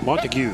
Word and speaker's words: Montague: Would that be how that would be pronounced? Montague, yes.